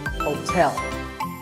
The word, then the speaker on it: hotel: interesting number 12 is hotel there are two syllables whole and tell like the English word tell as it tell me the stress is on the second syllable so hotel a related word is